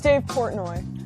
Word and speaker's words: Dave Portnoy: So it's Dave Portnoy. Yeah, you butchered it on purpose because I say your last name's wrong, right?